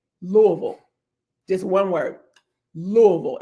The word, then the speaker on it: Louisville: How do you pronounce it? So, if you live here, born and raised here, we say Louisville.